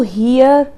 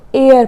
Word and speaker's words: heir: यहाँ पर लिखा है HEIR, हम इसको हियर हेयर नहीं पढ़ेंगे, हम इसको एयर पढ़ेंगे। H यहाँ पर साइलेंट रहता है, एयर, और एयर का